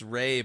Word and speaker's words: Rhea: It's Ray, but it's spelled Rhea, so I was always Rhea in school, so I'd feel it.